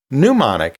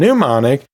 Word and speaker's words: pneumonic: So yeah, they are somewhat similar, and they both have a silent letter at the beginning, so I think that's why they're so often confused, but they are two different terms.